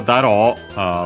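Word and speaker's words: だろう: And then we have daro, we have seen it before, on its own technical accent on the ro of daro.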